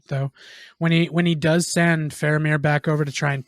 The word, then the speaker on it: Faramir: Fromir. Faramir. It's a V. Faramir. It's Faramir.